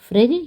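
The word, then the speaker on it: Phryge: Olympics का mascot था फ्रिज या फ्रिजेस आएगा ओके इस फ्रिज की स्पेलिंग एफ से शुरू नहीं होगी इस फ्रिज की स्पेलिंग होगी पी पी एच आर वाई जी ई फ्रिज ओके और फ्रिजेस की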